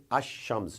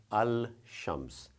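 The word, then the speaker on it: الشمس: the alif lam the the lamb is silent so you would say as Shams not Al Shams but when it comes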